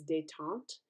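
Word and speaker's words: détente: remember to use in class was the phrase detonte it's spelled D E with an apostrophe t-e-n-t-e and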